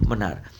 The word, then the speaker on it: मन्नार: एंड the gulf of मनार। देखिए gulf of मनार। ये मन्नार नाम है।